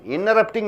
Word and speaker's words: interrupting: Interrupting you should say. After NT comes, T should not be pronounced.